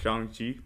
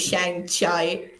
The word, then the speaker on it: Shang-Chi: Or his the previous movies he's given direction to is Shang-Chi. I think I'm pronouncing that right this time. yes, you are. Yes, last time it was Shang Chai.